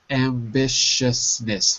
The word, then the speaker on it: ambitiousness: is really difficult ousness ambitiousness four syllables ambitiousness very good very